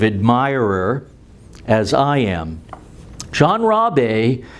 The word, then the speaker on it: Rabe: R-A-B-E, but pronounced Rabe.